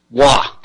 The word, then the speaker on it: Roy: French anthropologist named Olivier wah his last name WA is spelled ro why Olivia Olivier Roy but as we know it's a French name and the French would